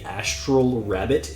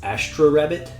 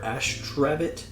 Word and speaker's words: Astrabbit: And then I'm always going to say Astral Rabbit in my head, but it's Astra Rabbit or Astrabbit.